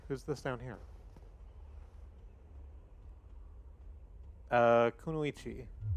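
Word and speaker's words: kunoichi: Uh, Kunuichi. Oh, you're not supposed to pronounce the last eye on it.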